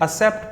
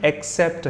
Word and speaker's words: accept: मुझे भी सुनने को मिलता है स्टूडेंट से, कई लोग इसे असेप्ट पढ़ते हैं। अगर आप भी इसे असेप्ट पढ़ते हैं तो माफ कीजिए, आप चेक कर सकते हैं, इसका प्रोनाउंसिएशन एक्सेप्ट है।